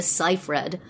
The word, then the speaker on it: Seyfried: All right, so Pop Buzz tells me that it's Amanda Seyfried, but Okay.